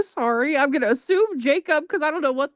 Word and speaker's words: Jacob: Tony in Spanish is pronounced Hakob, but in English it's pronounced Jacob.